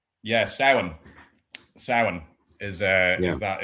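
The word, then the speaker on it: Samhain: I think another big one is Halloween who has his roots in Sam Hine in the Celtic tradition. No. Yeah. Sin.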